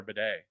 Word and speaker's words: Batty: But anyways, like everybody always called him Tyler Tyler Batty. Like I never heard anybody ever call him Tyler Bedet, but apparently he says that's how it's actually pronounced.